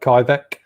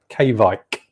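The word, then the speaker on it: Kveik: to be pronounced not kyvek k vike v i v-i-k-e they have a k on the front k-bike apparently but i always say kybeck and i think a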